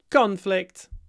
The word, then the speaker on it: conflict: next one consec of conflict conflict conflict just move the stress to the first syllable the conflict was resolved